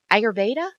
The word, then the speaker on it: Ayurveda: study correct me if I say this wrong Ayurveda no you said it right well well what